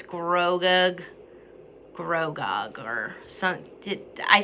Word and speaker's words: Grogu: okay i anyways sir oh grogu thank you rayna grogu so that's how you pronounce it but i mean we